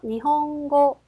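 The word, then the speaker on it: 日本語: 주셔야 된다는 점이죠 그러면 먼저 발음이 이응으로 발음되는 경우입니다 자 카 그리고 가해 앞에서는 이응으로 받침이 될 거고요 자 단어 보시면 여기 보시면 먼저 대표적인 단어 일본어입니다 자 그래서 읽어 볼까요 니홍고 니홍고 어때요고 가잉 앞이기 때문에 이응으로 받치면 될 거고요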